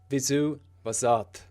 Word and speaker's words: Vyzzuvazzadth: What's interesting is I usually pronounce it Vyzzuvazzadth, a more American A, but that's only because it kind of feels more natural to say in my pseudo-American accent. But it's actually Vyzzuvazzadth.